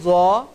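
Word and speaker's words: ظ: এখানে পর হরফটি দেওয়া আছে জ। আমরা এটাকে অনেকে জোয়া বলে থাকি, এটার নাম কিন্তু জোয়া না, এটার নাম হচ্ছে জ।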